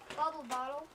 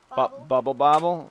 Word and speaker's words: Bubble Bobble: Bubble Bottle. Bubble Bobble. Not Bubble Bottle. Now I messed up. How the heck do you pronounce this one?